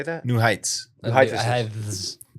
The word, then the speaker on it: New Heights: New Heights. New Heights. There's actually not an H after the T there. New Heights.